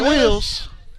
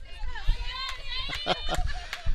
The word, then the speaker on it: Wills: It's going to bring up junior Cedric Sadie Willis. Wills. The PA announcer gets her name wrong every time. Sadie Wills.